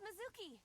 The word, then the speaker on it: Mizuki: Okay, Mizuki. It's Mizuki.